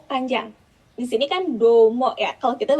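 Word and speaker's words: どうも: Di sini kan domo ya. Kalau kita bacanya domo gitu. Nah, kalau di mereka tuh domo kayak O-nya Domo.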